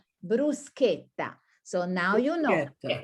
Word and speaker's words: bruschetta: No, it's not bruschetta, it's this sound, k, bruschetta.